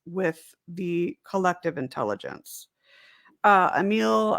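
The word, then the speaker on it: Émile: the collective intelligence uh a meal or i know i think it's a meal is how uh it's pronounced emil durkheim is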